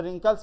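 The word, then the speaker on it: wrinkles: से स्टार्टिंग होती है डब्लू हमारा एक साइलेंट हो जाता है डब्लू हमारा साइलेंट लेटर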